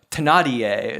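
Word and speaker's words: Thénardier: the yeah I'm a tanadier is the French pronunciation yeah this time yeah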